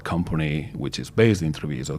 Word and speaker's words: Treviso: So you're originally from Treviso. Is this the right pronunciation? Treviso, yeah. Treviso. And how are you here?